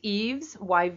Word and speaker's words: Yves: you can get instead there's Eaves Yves a Canadian company with reach all over North America and possibly Beyond it's spelled why VES and they make vegetarian